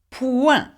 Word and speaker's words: point: Point, okay? Point. The T is not pronounced either in French, okay?